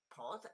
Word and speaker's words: pod: And then we got pod, as in vanilla pod, rhymes with which one of these? Okay, A, definitely. Yeah. Pod rhymes with God because this one is